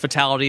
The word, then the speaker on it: Fatal1ty: Just Fatality. It's I is spelled with a 1, so Fatal1ty.